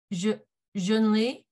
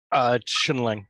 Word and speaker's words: Chinling: So I'm going to try to pronounce Junli. Junli, did I pronounce your name correctly? Chinling, but close enough.